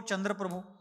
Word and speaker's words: चंद्रप्रभ: चंद्र प्रभु पद्म प्रभु ऐसा जो अपन छठे और आठवे तीर्थंकरों का नामो उच्चारण करते हैं वह बिल्कुल गलत है चंद्र प्रभु नहीं चंद्र प्रभ पद्म प्रभु नहीं पद्म प्रभ चंद्र प्रभु कहेंगे प्रभु